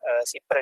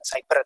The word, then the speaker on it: siber: Siber dan Sandi Negara, itu membacanya bukan cyber tapi siber gitu ya kalau yang bahasa Indonesia.